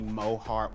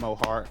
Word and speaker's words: Mo Heart: if I can just be Mo Hart, 2 syllables Mo Hart, much like RuPaul, you know, Trixie Mattel, there, you know.